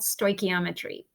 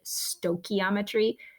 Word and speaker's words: stoichiometry: the unit is called stoichiometry and it is a pet peeve of mine when people pronounce it incorrectly when they call it stochiometry don't mention that to mr. Beckman because he says it wrong it's embarrassing so stoichiometry